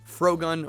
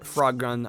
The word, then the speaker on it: Frogun: And this next one here is Frogun, or Frogun. I've heard it pronounced both ways.